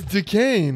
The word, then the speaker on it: Duquesne: Yeah, it's Duquesne.